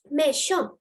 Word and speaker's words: méchant: Then you have méchant. Méchant. The letter T is silent. Méchant. Look, the letter C and H is together. So the sound is sh, the sh sound.